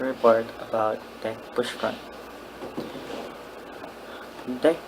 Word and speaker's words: deque: about deck push front deck or double-ended cues usually pronounced like that is an irregular acony